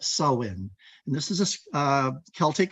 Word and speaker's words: Samhain: um an ancient holiday called not Samhain as it's spelled but sowin and this is a